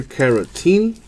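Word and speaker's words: Caratini: Cubs Ricky otto for Victor carotene it rhymes with martini I just couldn't use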